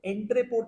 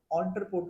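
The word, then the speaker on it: entrepôt: अच्छा, एक होता है ऑन्ट्रेपोर्ट, इसे एंट्रेपोर्ट नहीं कहते, दिस इज नॉट एंट्रेपोर्ट, इसको ऑन्ट्रेपोर्ट कहते हैं। प्रोनाउंसिएशन ओ से स्टार्ट होता है, although the letter starts from the word starts from e, but the pronunciation starts from o।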